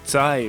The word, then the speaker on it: Zai: The title of the sequel is Zai Metajo, a Japanese approximation of the Chinese pronunciation for this kanji, which means again.